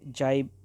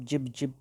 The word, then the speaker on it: jibe: और मैंने Oxford dictionary में इनकी प्रोनाउंसिएशन देखी तो उन पे जाइब ही आ रहा था, या आप जिब जिब भी कहे। किसी एक स्टूडेंट और टीचर ने इनको जिब जिब भी प्रोनाउंस किया है। God knows better. तो हम ऑक्सफोर्ड को ही चलते हैं, ऑक्सफोर्ड की मीन प्रोनाउंसिएशन लेके चलते हैं, जाइब।